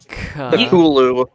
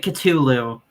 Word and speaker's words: Cthulhu: You getting- don't Cthulhu. Okay, Kale. Yes. Please don't tell me you pronounce it Cthulhu. It's Cthulhu. A T what and an I H said. create a th sound.